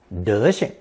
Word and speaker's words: 德行: However, when 行 is pronounced with a neutral tone, 德行, it's a colloquial expression usually used to criticize a person's poor manners or unacceptable appearance.